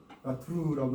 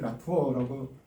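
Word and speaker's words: Latour: 그래서 지금은 이제 거의 우리 국내에서는 라트루라고 이렇게 우리말로 표기하는게 정착이 있습니다.에 아직도 영어권 영어권에 좀 기대는 분들의 라투어라고 그게 꼭 틀린 건 아니죠. 영어식으로 발음한 거니까. 데 하여튼이 사람은 프랑스람이니까 라트루라고 제대로 불러주는게 좋다요.이 사람은 1947년에 태어나서 2022년도에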